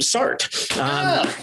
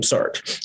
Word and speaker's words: Sartre: But this didn't seem to be the same Sartre. And I anglicized French names, so Sartre will be my pronunciation.